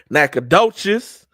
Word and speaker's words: Nacogdoches: Nacogdoches.